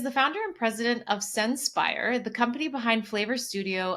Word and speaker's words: Senspire: He is the founder and president of of Sen He is the founder and president of Senspire, the company behind Flavor Studio, an operating system